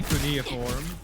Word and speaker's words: cuneiform: Let's teach Dante cuneiform.